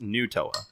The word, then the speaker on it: Nutella: was it Nutella really but apparently apparently it's pronounced new Toa potatoz potatoz potatoz you know tomatoes tomatoes we